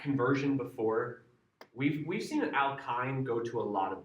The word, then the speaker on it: alkyne: learning functional groups, and I had them repeat after me. Alkane, alkane, alkene, alkene, alkyne, alkyne. Because it is. It doesn't make sense, and I even remember when I was learning it, the Y I would pronounce as E sound, so it's alkene to me.